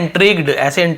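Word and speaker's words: intrigued: अब क्या हुआ, अब यहां पे देखिए, इंट्रिग्ड, ठीक है, इंट्रिग्ड ऐसे होता है उच्चारण इसका ना, कौतूहल, मतलब मन में उत्साह, एकदम कौतूहल होती है ना, क्या है कैसे है।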